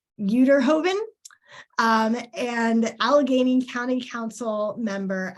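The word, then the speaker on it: Uyterhoeven: to know how to say this last name, Uterhoven, and Allegheny County Council member Anita Prizio.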